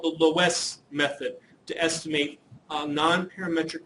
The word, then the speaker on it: Loess: on something called the Loess method to estimate a nonparametric regression model. In most places, you will not see this W listed in there, and it still will be pronounced Loess.